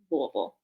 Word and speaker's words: Louisville: Look, you can hear that Kentucky accent come out when you say Louisville.